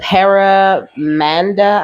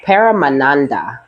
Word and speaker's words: paramananda: was looking at this the paramanda I think is how you say it paramanda no param manada is how you say paramananda sorry that's what it is the paramananda the alchemical